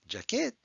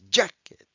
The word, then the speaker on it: jacket: And Jack is in bold letters, which means that's the strong syllable. It's not jacket, it's jacket.